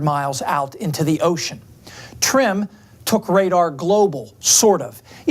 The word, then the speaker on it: TRMM: tropical rainfall measuring mission trmm for short usually pronounced trim a joint venture between NASA and its Japanese counterpart trim carried the first precipitation radar ever flown in